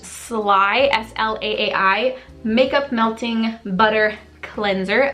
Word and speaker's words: Slaai: This is the, I think it's pronounced Slaai, S-L-A-A-I, Makeup Melting Butter Cleanser.